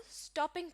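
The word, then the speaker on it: stopping: करेंगे यानी इनको बोलेंगे, तो जो स्ट्रेस है वो वर्ड के शुरू के हिस्से पर होगा, यानी इस वर्ड को स्टॉपिंग प्रोनाउंस करेंगे, स्टॉपिंग नहीं। यानी इस वर्ड के दूसरे हिस्से पर आपने स्ट्रेस नहीं देना, बल्कि स्ट्रेस शुरू के हिस्से पर होगा, स्टॉपिंग।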